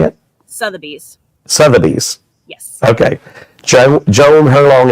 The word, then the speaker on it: Sotheby's: Sotheby's.